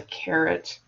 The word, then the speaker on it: caret: But the technical term is caret, but it's not spelled like like the vegetable.